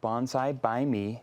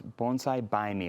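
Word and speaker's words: Bonsai Bai Me: So going to our website, Bonsai by Me. Now, by is spelled B-A-I, so it's Bonsai by Me, a little play on words Clever.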